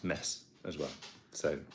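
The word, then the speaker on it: Metz: the person that said that Mets is actually pronounced mess as well so it's it's nice to get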